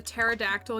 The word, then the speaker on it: pterodactyl: Why couldn't you hear the pterodactyl use the bathroom? Um, I don't know. I would assume has something to do with the fact that it's extinct. Because the P is silent.